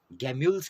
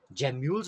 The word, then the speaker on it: gemmules: Discuss करने वाले हैं गैम्यूल्स के बारे में, या जिनको कि जैम्यूल्स भी कह दिया जाता है। आप इसको किसी भी तरीके से प्रोनाउंस कर सकते हैं, गैम्यूल या जैम्यूल।